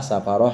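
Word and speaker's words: سفرة: Tambihun, satu pengingat, qauluhu hamalatun wa safaratun wa hafadatun wa katabatun bi fathi ahrufiha atsalatah. Ini bacanya hamalah, safaroh, hafadah, katabah.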